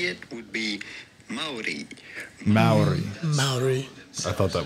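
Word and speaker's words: Māori: Just how do you go about pronouncing their name? Well, the natural indigenous way to say it would be Maori.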